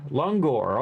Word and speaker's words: langur: Lungor, okay, that's how you say it.